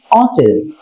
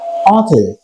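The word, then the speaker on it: hotel: এই যে আমরা হোটেল বলি, তাই তো, এই হোটেলের একটা উচ্চারণ কিন্তু অচেল, এটা মাথায় রাখবে তোমরা, অথেল, ঠিক আছে।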